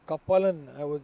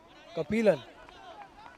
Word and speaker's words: Kapilan: That's Kapalan, if I would say. Kapilan is the right pronunciation.